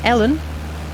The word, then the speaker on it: Ellen: It's pronounced as Ellen. Ellen, E-L-L-E-N. Ellen, like Helen.